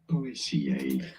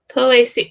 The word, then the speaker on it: Poaceae: correct way of saying it, pronouncing it, is as Poaceae. Poaceae. Poaceae.